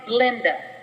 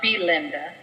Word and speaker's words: Blinda: Janice she'll know no my name's blinda not Belinda she pointed to the name tag pin to her shirt see without the e my mom said people pronounced it that way anyway so she might as well save them the trouble and leave it out well isn't that something